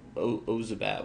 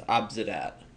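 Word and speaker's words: Obzedat: I keep saying Ozabat when it's Obsidat.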